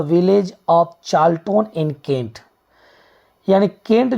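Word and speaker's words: Charlton: हालांकि गांव के नाम के लिए यहाँ चार्ल्टन, कार्ल्टन हम बोल सकते हैं, लेकिन सही इसका उच्चारण चार्ल्टन होगा।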